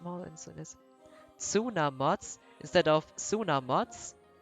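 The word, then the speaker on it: Tsunamods: than this instead of sooner mods sooner mods it's basically silent when we say it like a bit like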